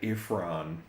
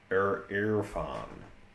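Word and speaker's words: Irrfan: I think I think it's I think it's pronounced like I'm so tempted to say ifran but it's an erran. So I r f So, he's kind of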